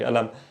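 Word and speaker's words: ألم: Alam here is with a hamza. It's with a genuine hamza. It's not like it's a qaf and then we're changing the sound. No, it's a hamza. So the word for pain, alam, hamza. This is how it's supposed to sound.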